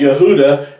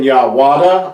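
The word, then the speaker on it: יהודה: is pronounced as Yahuwah, because Yahudah has always been pronounced that way. It's never been Yahwada or Yahvada, but it's been Yahudah.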